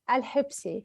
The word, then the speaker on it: Alhebsi: Well, it's Alhebsi. Alhebsi.